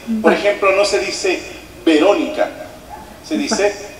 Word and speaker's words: Verónica: escape No b y la v se pronuncia con una ligerísima F como que rozan tus dientes con el labio ve por ejemplo no se dice Verónica se dice Verónica verc Verónica meti una